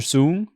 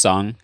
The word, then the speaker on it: Sung: to do and they pronounce my name like Mr Mr soon is is he here and I'm like bro it's just four letters how can you mispronounce that because it's just sung sng like you sung a song and every time you